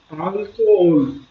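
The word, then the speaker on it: alcohol: Observe que álcool, a sílaba tônica é al. No espanhol é ol, álcool.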